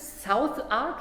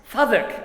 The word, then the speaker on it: Southwark: In London's South Ark, is that pronounced? Southwark. I knew it will be pronounced different.